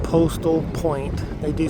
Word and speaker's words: Post'l: So this campground is called Postal Point. They do spell it a little differently than postal.